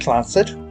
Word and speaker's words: Clancy Trust: The Clancy Trust, pronounced Clancid, is a highly unusual corporate arrangement named after